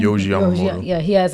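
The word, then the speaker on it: Yohji Yamamoto: But like how that jacket over there was like Wise, but then like Yogi, how you say his name? Yoji Yamamoto.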